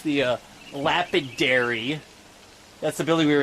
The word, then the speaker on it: Lapidary: You can see it actually says that it's the Lapidary. That's the building we were in earlier. I was mispronouncing it.